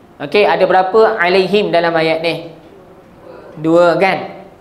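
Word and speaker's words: عليهم: Kenapa baca him tak baca hum? Ah ha, sebab sebelumnya ada ya mati. Okey, ada berapa alaihim dalam ayat ni?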